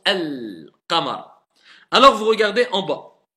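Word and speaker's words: القمر: Ça renvoie vers lunaire, lune, al-qamar, donc on prononce le lem.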